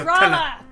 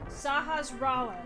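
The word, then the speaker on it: Sahasrahla: I can talk to you Sahasrara! Am I Sasha. the only one who can pronounce it I can correctly?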